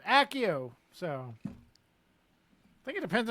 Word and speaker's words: Accio: So we got to go with the hard double C. Okay. Accio.